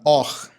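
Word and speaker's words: אור: Então é assim, a palavra hebraica luz, que é a palavra or, é a mesma pronúncia ou a mesma palavra que significa também pele, or.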